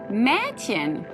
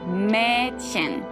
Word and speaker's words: Mädchen: The pronunciation of E is a little bit like an AI of the English word air. And the German example would be Mädchen.